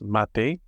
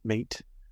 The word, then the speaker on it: mate: Pronounced mate, not mate.